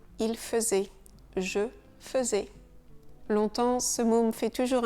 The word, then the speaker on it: longtemps: Donc on ne prononce pas le G longtemps. Et bien sûr, on ne prononce pas le P et le S final.